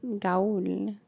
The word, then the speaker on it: Gaul: Yeah, but it's going to be like, you're dumbasses because the A and the U make the sound. It says Gaul. You should say it like ball. So it should be like Gaul. No, Dr.